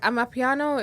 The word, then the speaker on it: amapiano: amapiano Mhm. Am I even pronouncing that correctly?